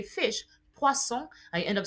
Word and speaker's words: poisson: S, spelled almost the same way as your poisson. Poison, that is poisson, fish. So imagine you're trying to say fish, poisson, and you end up saying poison.